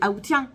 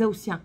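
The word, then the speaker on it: aoûtiens: On ne dit pas les Aoutiens, on dit les Aoutiens. Donc le T ne se prononce pas tout le temps.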